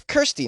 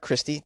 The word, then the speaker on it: Kirsty: Oh, and it's Kirsty, not Christy.